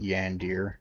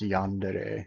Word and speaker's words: yandere: Yeah, and I will continue to call it Yandir because it pisses off people. I don't care that it's Yandere. I'm not a fucking weeb, so I'm gonna say it like an American in America.